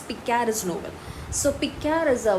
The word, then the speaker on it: picaresque: so this is spelling is p-i-c-a-r-e-s-q-u-e and it's pronounced it's picares noble so pika is a word that means